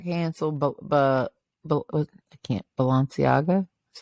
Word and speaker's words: Balenciaga: one that got canceled but but I can't Balenciaga that's how you say it but yeah how